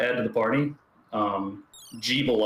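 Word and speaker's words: Gebel: to the party um jebel i believe is how his name is pronounced in the ritual of the night i called him gavel for a while but i guess that doesn't really make a lot of sense jebel i guess sounds better um also very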